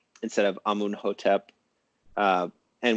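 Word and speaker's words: Amenhotep: And what's happening there is that the Amenhetep version, or Emenhetep, I guess, is a sort of artificial pronunciation of just the consonants with vowels thrown in, kind of dummy vowels wherever necessary. And that's done in order to be scientific.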